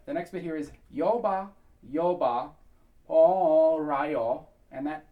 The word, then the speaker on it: Lyoba: Now, we are not going to be pronouncing that Lyoba. The L's in that are very light. They're almost non-existent. It basically is just going to be a scoop up into the note. So it's going to be Lyoba. So virtually no L at all.